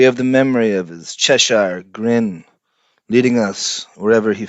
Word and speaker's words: Cheshire: Is it Cheshure? Cheshire. You said it right when you read it. Cheshire. I've heard it pronounced like 10 different ways.